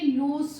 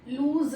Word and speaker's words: loose: एल डल ओ एस ये लूस होता है लूज नहीं का साउंड नहीं आएगा स का साउंड आएगा लूज ओके एंड दिस